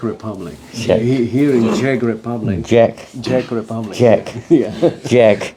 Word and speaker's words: Czech: Jack. He pronounces it very Jack. clearly. Jack Republic. Jack. Not Czech.